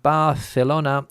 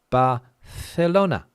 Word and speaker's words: Barcelona: But the C in Castilian Spanish is pronounced like we pronounce in English, th, th. So if I say think, it's exactly the same as Barcelona, okay?